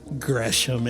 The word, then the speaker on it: Gresham: but i respect it her name is gresham and did i say it right yes ron